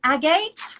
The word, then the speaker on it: agate: You have a thing on agate.